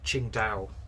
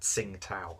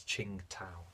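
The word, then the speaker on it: Tsingtao: this in my uh Ching Dao review. I think that's how it's pronounced. It's not Singtao, it's Ching Tao, Chingda. I think that's how that is pronounced.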